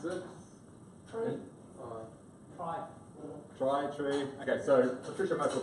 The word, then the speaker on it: trie: So tree is pronounced after the middle syllable of the word retrieval. So it's tree. People will often say try because it's often thrown